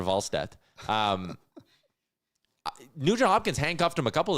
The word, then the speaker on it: Wallstedt: And I like that Jack was using the good, proper European pronunciation. Is that what he was doing? Yeah, he was calling him Jesper Wallstedt.